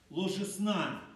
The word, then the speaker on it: ложесна: разверзающий утробу матери, если проще сказать, ложесна, ударение на последнюю букву, был посвящен Господу.